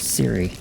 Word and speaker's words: Siri: Yeah, my name is Siri. Cuz I know a lot of people probably think it's like, I don't know, Kyrie or something like that.